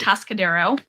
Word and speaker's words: Atascadero: Atascadero.